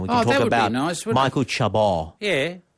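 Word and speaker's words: Chabon: can talk about Michael Chabot. Yeah. So you're saying you don't pronounce the last N? No, you don't in Francais, for God's sake.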